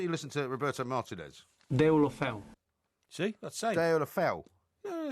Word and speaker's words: Deulofeu: the break there, not Jack Wishere, but Gerard Deulofeu, who might be coming back to Everton.